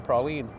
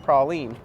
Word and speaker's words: praline: So we've got a Buc-ees pecan, well, Buc-ees, I'm gonna say it like a northern boy, a Buc-ees pecan praline, or saying it like a southern boy, a Buc-ees pecan praline.